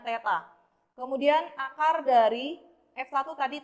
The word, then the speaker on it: theta: Ini bacanya theta.